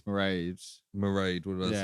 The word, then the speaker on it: Mairead: I think it's Mairead. Mairead, what did I say? Married. I even looked up how to pronounce that earlier.